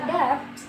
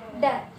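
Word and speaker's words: debt: Jadi contohnya adalah dalam kosakata that. Jadi bukan that, tapi that, ya. Jadi di sini B-nya itu tidak diucapkan.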